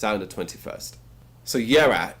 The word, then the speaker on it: Jera: The J is silent. Jera. So as I said, young atmospheric black metal band from Britain, the UK. They're releasing the debut album Jera.